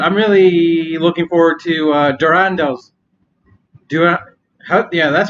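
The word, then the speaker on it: Durendal: But I'm really looking forward to Durando's.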